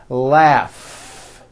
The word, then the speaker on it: laugh: R Freedom laugh notice the GH combination in that word laugh telephone notice the pH